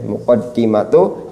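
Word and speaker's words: مقدمة: Muqaddimatu ilmit tasrifi ya. Ya, nanti untuk penjelasannya nanti ee ketika sudah masanya. Tapi yang jelas bacanya adalah muqaddimatu.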